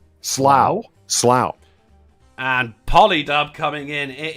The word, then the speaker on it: Slough: Slow. It is not slow, and it is not sluch. Slough.